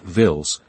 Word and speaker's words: Willys: They called them Willis, pronouncing it vills, and they used them everywhere from the streets of Stalenrad to the forests of East Prussia.